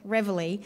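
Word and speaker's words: reveille: name is obviously from the french and we pronounce it reverely but it's a french word for wake up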